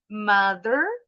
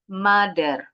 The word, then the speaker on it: mother: Contoh lain lagi yang paling sering juga mother. Karena ujung lidahnya enggak keluar, bacanya jadi seperti bunyi D. Mother atau father.